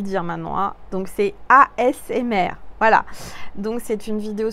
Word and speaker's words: ASMR: Je dis ACMR, en fait, c'est ASMR. Je vais y arriver. On m'a repris. Et je sais le dire maintenant. Hein. Donc, c'est ASMR.